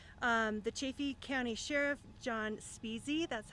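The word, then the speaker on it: Spezze: The Chaffee County Sheriff, John Speasy, that's how we pronounce his name.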